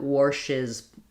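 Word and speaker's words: Warsh's: When I have an S or a Z here, or an SH sound, when I add the possessive, it's just going to add a syllable, passes. So if it's anything other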